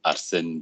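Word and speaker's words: Arsène: everyone my name is arsene you pronounce it as a combination of the letter r and sen as in senator it's a french name so there's an accent in the the middle e that we don't have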